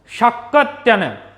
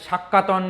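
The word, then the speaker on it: শাকটায়ন: Next শাক্যত্যয়ন, এর হচ্ছে অমোঘ বৃত্তি, শাক্যত্যয়ন হচ্ছে অমোঘ বৃত্তি। দেখো বাংলায় এটাকে অনেক জায়গায় শাক্যাতন বা শাক্যয়তন বলা হয়, বাট উচ্চারণটা অ্যাকচুয়ালি এরকম নয়।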